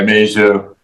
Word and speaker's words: Mageau: Yeah, it's all French. Mageau. I think it's Mageau. Mageau. I'm sorry, Mageau. Yeah, super French, not Quebec.